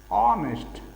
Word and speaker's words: honest: जैसे हम एग्जांपल देख सकते हैं, एन ऑनेस्ट बॉय, ऑनेस्ट, तो वॉवेल साउंड है, एच साइलेंट है यहाँ पे, ऑनेस्ट, यहाँ पे एन is right, an hour, our, hour means घंटा।